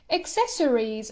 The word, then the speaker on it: accessories: doesn't mean less valuable means highly valuable invaluable accessories see the pronunciation is accessory accessories accessories for example jewelry